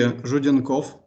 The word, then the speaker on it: Zhudenkov: Actually, my surname is hardly read even in Russian. Mm-hmm. So my Russian colleagues do not always correctly pronounce the surname. It should be Zhudenkov.